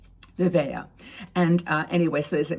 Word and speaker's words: Vivaia: check out their website it's vavaya and I'll put the link below and I can spell it for you because it's kind of an interesting word it's v-i-v-a-i-a vivea and uh anyway so